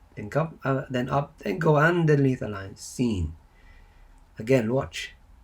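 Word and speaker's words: سين: How you pronounce it is seen. And the sound is s, s, s.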